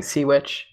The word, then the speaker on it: Cwtch: I think it's a Welsh word, so it's pronounced differently, but I've just been saying SeaWitch, CWTCH.